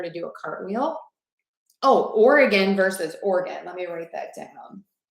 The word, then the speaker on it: Oregon: Oh, Oregon versus Oregon. Let me write that down. So the difference here, Minerva, is Oregon has 3 beats, Oregon, and Oregon has 2.